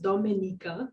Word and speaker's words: Dominica: Dominica, pronounced Dominica, is known as the nature island, where beautiful green landscapes, fascinating wildlife, and adventure activities await travelers.